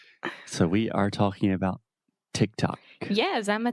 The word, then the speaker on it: TikTok: so boo Boomers so we are talking about Tick Tock yes I'm a tick tocker now is that what people call it I